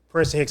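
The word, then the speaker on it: Prinston Hicks: Princ Hicks on everything. P R I N S T O N H I C Ks. It's not spelled like the school even though it's pronounced like the school.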